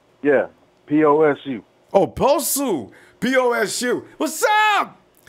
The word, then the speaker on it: Posu: Yeah, P-O-S-U.